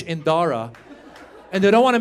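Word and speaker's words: Dhara: to indianize it so she added a silent h after the D so now it's spelled d-h-a-r-a looks Indian is Iranian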